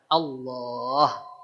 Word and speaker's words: Allah: Lafaz Allah ini dibaca tebal. Tebal bukan di oan. Ya, saya tekankan lagi. Tebal bukan dian. Caranya dengan si pangkal lidah kita yang diangkat agar ee keluar suara yang tebalnya.